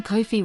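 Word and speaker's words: Ko-fi: From someone, Kofi rhymes with no fee 3.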